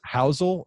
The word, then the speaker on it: Housel: looking forward to this howel is that how you pronounced your last name that's correct okay uh well then